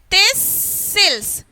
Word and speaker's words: thistles: Thistles. Thistles. Okay. So here the letter T is silent.